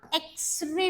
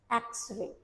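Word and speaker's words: X-ray: आप इसको बोलते हैं प्रोनाउंस करिए इसको एकस एक्सरे एक्सरे एक्सरे ई का साउंड आ रहा है एक्सरे कुछ इस तरीके का आवाज आपको सुनाई दे रहा है और हमको तो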